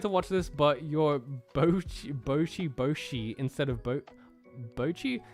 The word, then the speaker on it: Bocchi: I tried to watch this, but your Bocchi instead of Bocchi? There's a glottal stop in there, bro.